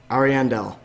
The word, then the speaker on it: Ariandel: And we're here to review the Dark Souls 3 DLC, Ashes of Ariandel.